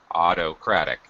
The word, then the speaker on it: autocratic: is autocratic Auto ratic first syllable stress autocratic autocratic I'm sorry third syllable stress autocratic autocratic yeah okay